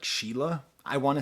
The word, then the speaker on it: Shelagh: So it's Shelagh. So I assume that's some kind of Irish name. So I'm going to imagine it's like Sheila.